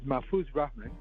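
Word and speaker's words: Mahfuz Rahman: okay all right all right how do you pronounce it well my my actual name is mafuse Rahman and the stage name is because mafu's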